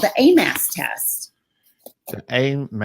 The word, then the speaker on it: AMAS: and one of them today is called the a mass test aim how you spell it it's 8 as an apple and this